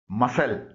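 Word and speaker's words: muscle: आवाज नहीं निकलती है यानी इसे साइलेंट लेटर के तौर पर इस्तेमाल किया जाता है जैसे एम यू एस सी एल ई मसल इसमें सी से कोई आवाज नहीं निकल रही है इनडाइन मेंट इसकी स्पेलिंग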